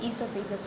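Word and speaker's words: oesophagus: Food pipe या फिर ईसोफेगस। ओ silent होता है, ध्यान रखना।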